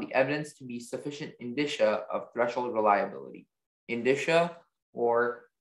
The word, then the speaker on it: indicia: Your word is indicia. May I have all the information? Indicia is can also be pronounced indicia, and it's a noun.